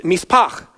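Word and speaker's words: מִשְׂפָּח: for bloodshed is mispach, and you have to kind of at the end. It's not great for COVID season, but at the same time, it's how you say it, okay? It's mispach.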